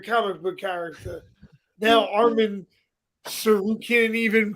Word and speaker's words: Tsarukian: Now Armin Tsarukian even pronounce his last fucking name. Tsarukian.